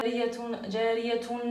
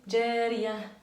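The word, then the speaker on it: جارية: Surtout dans beaucoup de sourates dans le Coran, au lieu de prononcer ta marbota, on ne dit pas jariyatun, lahiyatun, sahiyatun. Là, on facilite la prononciation et on dit jariya, lahiya, sahiya.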